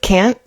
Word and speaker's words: can't: It's usually reduced and the one that's um negative can't is kind of it has like a little bit more of a nasal uh flavor to it. But yeah, very similar. The N is shortened in the negative one. And also when you're saying can't, um, can't is the word that's emphasized. And when it's can, the next verb is the one that's emphasized.